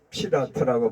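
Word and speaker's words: Fırat: 다른 이름은 피라트라고 합니다. 터키에서는 피라트라고 발음해요. 그리고 아랍에서는 알프라트 강이라고 합니다.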